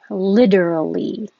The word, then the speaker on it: literally: i didn't notice that till now all right starting with literally the t changes to a d literally and when we say